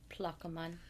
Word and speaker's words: Plaquemines: And I really wanted it to be more French because it's spelled like with a Q. It looks like it should be like Plaquemine. I don't know. You're Canadian. You do the French better. Plaquemine. But it's not. It's Plaquemine.